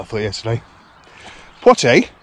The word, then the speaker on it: Poitiers: Poitiers, spelt and pronounced the same as the actor from the 50s and 60s, Sydney Poitier.